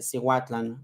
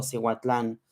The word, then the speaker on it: Cihuatlan: Como, no sé, Cihuatlan, no digo Cihuatlán, sino Cihuatlan.